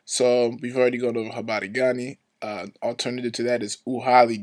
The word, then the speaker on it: Habari Gani: This R is kind of pronounced like a Spanish R, so again, this is Habari Gani. Habari Gani.